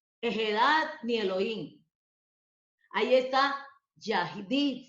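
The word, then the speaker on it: יחיד: Ahí está Yahid, se pronuncia Hadid o Yahid. Pero en hebreo, como con J, Hadid.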